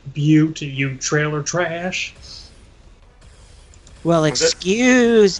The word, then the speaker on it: Butte: No, there's all those people like, it's pronounced Butte, you trailer trash.